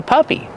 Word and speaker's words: puppy: Use the short sound like cup and up. Pup. Puppy. Plus the long E sound like green beans.